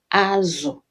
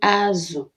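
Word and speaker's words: azụ: Say azu, not azu. Azu means back. All right, back. Your back. It's called azu. It's the same spelling. All right, but different pronunciation, and it means different things. Remember, as I mentioned earlier, tonal language. Igbo is a tonal language.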